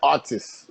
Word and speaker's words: atis: they call you like artists so the pronunciation for it is artis so i i heard the guy said to me atis atis and i was